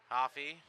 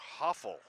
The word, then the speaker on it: Hoffel: Hoffey, right in the end zone there. I think I mispronounced his name there, Dan. It's Jack Hoffel.